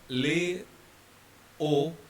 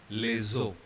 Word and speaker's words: les eaux: So instead of saying le O, keeping S silent, which is general rule, we have chosen to combine S and E and it becomes les eaux.